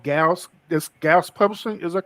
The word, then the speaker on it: Gauss: Now, with the company, I guess it's called Gauss. This Gauss Publishing, is that correct? I pronounce it Goose, but it's just growing Goose.